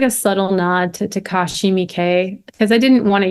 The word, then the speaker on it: Takashi Miike: First of all, because I can't tell you how many times I pronounce this name. Takashi So Miyake. Yeah, it's like a subtle nod to Takashi Miike because I didn't want to use his exact same name.